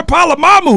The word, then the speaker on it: Polamalu: Troy Polamalu.